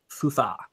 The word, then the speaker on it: SUSE: I think SUSE. It's SUSE. It's properly pronounced. SUSE.